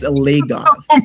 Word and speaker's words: Lagos: I've been saying Lagos my entire life and no one's ever corrected me. I'm saying it wrong. Yeah. It's Lagos.